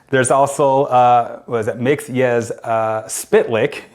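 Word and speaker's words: Mxyzptlk: What's your way to pronounce it? There's also, what is it? Mix-Yes Spitlick. It's Mix. Yes. Spit. Lick. Oh, I've heard that. Spitlick. I've heard that. I've heard Mixelplick.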